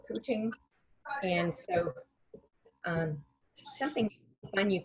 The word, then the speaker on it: couching: Spelled like couch, C-O-U-C-H, but it's pronounced couching.